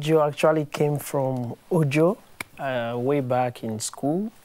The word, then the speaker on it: Ojo: actually came from Ojo uh way back in school I had this teacher uh she couldn't really pronounce Ojo she call and you know students